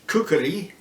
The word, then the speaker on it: khukuri: I think the actual pronunciation is Khukuri, with a K in the middle, and that gets shortened to Khukri.